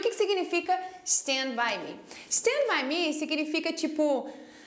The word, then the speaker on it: Stand by Me: Começando, né, pela pronúncia, a gente vai dizer Stand By Me e não E Stand By Me, como todo mundo gostaria de dizer. Por quê? Porque não tem um I aí na frente, tá vendo?